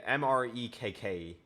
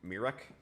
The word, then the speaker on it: Mrekk: Yeah, Mrekk. It's like Mirek.